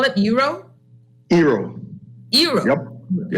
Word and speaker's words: Eero: Eero. Eero. Yep. Yeah. How do you spell it?